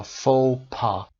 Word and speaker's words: faux pas: Okay, faux pas تلفظش رو ببینید اینجا. faux pas, an action or remark that causes embarrassment because that is not socially correct.